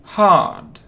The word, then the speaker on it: hard: Hard. Усердно. Видите, это как A, длинное A, hard. I study hard. Это R не произносится.